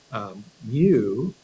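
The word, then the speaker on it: μ: Mu is how we pronounce that.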